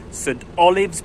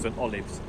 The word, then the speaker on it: St Olaves: down the lower Waveney, St Olaves Bridge. Last year I called it St Olaves, but someone said it's pronounced St Olives. It's spelt St Olaves, but there you go.